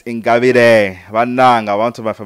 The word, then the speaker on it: Ingabire: She's pronouncing it the English style, Ingabire. It's Ingabire.